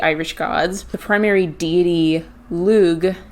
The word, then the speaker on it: Lug: The primary deity, Lug, L-U-G or Lug, is said to be Cuchulainn's father.